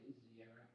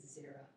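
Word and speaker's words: Zeira: They objected to Rabbi Azira. It's Zira. Zira. Yeah. If someone's, because usually in Hebrew, yes, transliteration, every vowel is a syllable.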